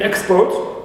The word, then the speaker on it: export: of writing now here in the first one I have export it means first syllable is stress and I have a